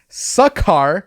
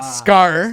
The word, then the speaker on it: Sakaar: You're both wrong. It's Sakaar, not Scar.